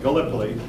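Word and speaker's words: Gallipoli: a place called Gali actually pronounce it galipoli galipoli and um the British were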